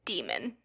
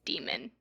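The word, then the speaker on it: daemon: the audio book and it's demon it's demon so I'm sorry I've been saying it wrong this whole time okay so I think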